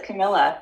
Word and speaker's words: Camilla: Camilla, is that how you say it? It is Camilla.